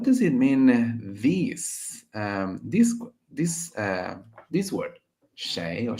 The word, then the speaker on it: 谁: This word, shéi or shui. How do you pronounce this, Melanie? Your pronunciation is very good. Shéi, shéi, or shui, but spoken Chinese we prefer to pronounce shéi, shéi, which means who.